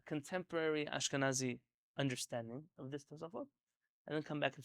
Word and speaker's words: Tosafot: Ashkenazim famously call them the Tosfos. Yeah, so there's no sa, it's tos. They would say Tosfot, and that's how the Israelis say it too, but we don't say it like that.